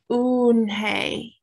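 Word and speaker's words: Unhei: then turned joey she nodded slowly yes it's pronounced unhay and it means grace mr kim added said slowly and this time perfectly it meant unhigh smile i'll have it ready for you tomorrow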